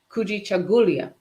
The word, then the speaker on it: Kujichagulia: The second principle of Kwanzaa, kujichagulia. Kujichagulia. You close. Kujichagulia. The Yes.